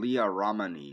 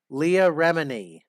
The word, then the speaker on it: Leah Remini: about how it's dangerous and deadly because um leah romney or remini or remy leah remini james i can't believe that you would mispronounce an easy name like that leah remini